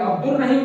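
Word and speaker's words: عبدالرحیم: रहीम ऐसे लिखेंगे और आपने देखा मैंने अब्दुल रहीम पढ़ा है, दाल और रे को मिला दिया है, अल मैंने लिखा है लेकिन इसको मैंने साइलेंट कर दिया है, पढ़ा नहीं है, लिखना लाजिम है।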